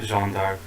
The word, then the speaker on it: Jeanne d'Arc: That's literally just called Joan of Arc, or like the French pronunciation Yeah, of it's it, literally Joan just d'Arc. Jeanne d'Arc.